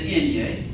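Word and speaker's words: eñe: in but this is the Enya it's pronounced like the ni and onion I've chosen a common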